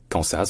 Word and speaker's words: Kansas: la première c'est que dans Kansas en fait la l'accentonique est sur le K donc c'est Kas alors que dans arc l'accentonique